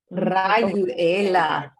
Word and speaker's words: Rayuela: Rayuela. All right, everybody try that. You got to roll your R's.